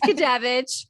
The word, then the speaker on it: Gudewicz: super excited today to be bringing Gudewicz. Sorry, I did it again. Can you pronounce your last name for me? Absolutely. It's not an easy one. It's Gudewicz. Gudewicz.